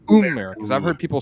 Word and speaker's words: Umerica: Is it America or Umerica? Umerica. No. Umerica. Like double O. Umerica.